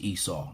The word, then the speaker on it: Esau: White Christianity is Esav, Esau, Edom. You know, because the rabbis say Esav. It's kind of fun saying it that way. So, but it's pronounced, you know, in English, it's pronounced Esau and Edom.